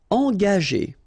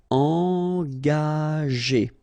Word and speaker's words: engager: Okay, so remember that G is a tricky letter, because if you combine it with A, like it's the case here, you will pronounce it ga. Okay, but if you combine it with E, like it's the case here, well, R here, the sound E, it will go like G.